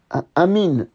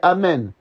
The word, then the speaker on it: amen: répondez à une braa ne dit pas amine attention c'est pas Amin ça pas nous c'est amen les mus musulmans disent Amin pourquoi par qu' pas le E dans la prononciation voilà donc fait faire